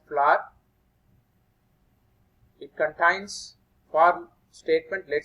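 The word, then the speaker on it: FLWOR: This will be pronounced as floor.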